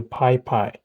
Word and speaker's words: PyPI: It installs libraries and tools from Python package index called the PyPy. It is spelled PYPI.